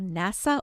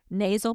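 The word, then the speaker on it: nasya: It comes from the Arveda world and it's called NASA oil. I'm going to spell it for you in case my southern accent does not translate well for you, but it's N A Y SA.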